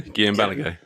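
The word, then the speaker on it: Balagué: Guillem Balagay.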